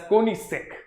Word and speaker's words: Koenigsegg: ठीक है, तो अब तेरे को क्या करना है चैट बॉक्स में, सर Koenigsegg, oh yes, Ayush, that's Koenigsegg. Alright, the G is silent.